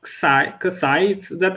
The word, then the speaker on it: kësaj: Yes, kësaj, it's not pronounced, kësaj here.